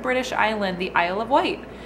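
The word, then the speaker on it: Wight: Island the Isle of white white is pronounced like the color white um it's a cute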